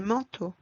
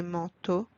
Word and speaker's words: manteaux: As you noticed, we don't pronounce the letter X at the end. X remains silent. Des bateaux, des chapeaux, des manteaux, des troupeaux de moutons, des cheveux.